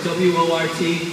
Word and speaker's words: wort: And it's called wort, W-O-R-T, rhymes with shirt.